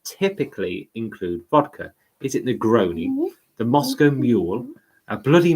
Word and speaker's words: Negroni: The cocktail you were looking for is Nigeriani. Is that how you say it? No, it isn't how you say it. How do you say it? Negroni. Negroni. Yes.